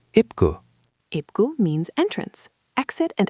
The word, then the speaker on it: 입구: ip, n is silent, e is e, b is p, ip, and gu is gu, ipgu.